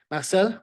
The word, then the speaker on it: Marcel: to be here nice to have someone uh pronouncing my name properly um yeah my name is Marcel as you mentioned I run a company called